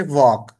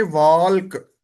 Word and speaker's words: walk: अब वॉक जो है वो ये नहीं लिखा हुआ, ये बेसिकली लिखा हुआ है WALK, वॉल्क। लेकिन वॉक असल में ये लिखा हुआ है। अब इसका मतलब क्या हुआ कि WALK ऑर्थोग्राफिक। ऑर्थोग्राफिक का मतलब क्या है, लिखाई के एतबार से डिफरेंट है, आवाज के एतबार से, फोन के एतबार से। लिखने में ये WALK है, और पढ़ने में ये वॉक है।